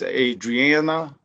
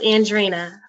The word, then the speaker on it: Andrina: So the next person to speak is Adriana. Did I say it right? Very close, Andrina.